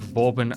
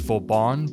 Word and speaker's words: Vauban: really want to take Vorbin out for a spin. By the way, I know the correct pronunciation for his name is Vorban, but I'm just so